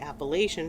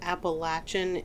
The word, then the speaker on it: Appalachian: called the appalachin trail I believe appalachin is actually the most recognized correct way to say it and it really just comes down to what part of the East Coast you happen to live in I say Appalachian